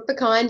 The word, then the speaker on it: pecan: going to learn about pecan oil or pecan depending on how you say it um i've always grown